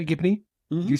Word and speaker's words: Gibney: Is that how you say it, Gibney? Did you say that? Yeah? Gibney, yeah.